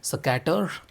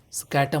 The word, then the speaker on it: Saccater: I'm still trying to pronounce it properly. It's Saccater. So I'm saying it's Saccater, Saccater momentum, Saccater focus, and their accessory kit, neckband, to be precise.